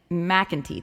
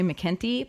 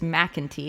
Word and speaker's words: McEntee: featuring brendan mcken mcentee that's how to say his name mac and tea it hurts my brain i want to say mckenty but it's mac and tea it's like manatee but mac and tea brendan mcentee who's a